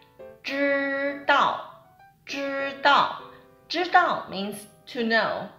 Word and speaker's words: 知: Okay, so first one is 知. Okay, so in standard way, we need to curl our tongue, right? 知.